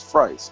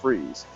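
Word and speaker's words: Fries: They said that the proper pronunciation for his last name is Frice, not Freeze.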